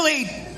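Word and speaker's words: lede: he really buried the lead there. And I went, you know it's buried the lead. And also it's not spelled that way. It's spelled L-E-D-E.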